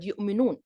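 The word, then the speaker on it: يؤمنون: For example, some old Arab tribes pronounce the glottal stop in the middle of the word, like the word yu'minun. Other tribes replace it with the vowel yuminun.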